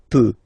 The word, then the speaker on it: peux: So je peux. Okay, final X not pronounced here. Okay, so you get X, but you don't pronounce it. So basically, you get the sound peut. Je peux.